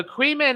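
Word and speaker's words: Caoimhín: Kevin yeah Kevin so queman is the gaic for of his name is it yeah Quine is the name for Kevin Quine but it's spell que so the m is pronounced V that's right yeah qu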